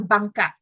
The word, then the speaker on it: bangka: So yes, so if you've Googled what Bancas mean, Banca is basically the, how do you say, Anglicized word for bangka.